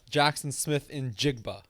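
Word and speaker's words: Jaxon Smith-Njigba: Jackson Smith in Jigba is the correct. There we go.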